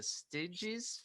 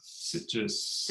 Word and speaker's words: Sitges: The Stiges Film Festival, was that correct? Or Sitges, I think is how okay. they pronounce it in Spain.